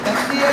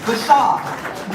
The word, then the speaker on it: Bashar: So you all know Mayor Bashir, did I say it right? Bashar.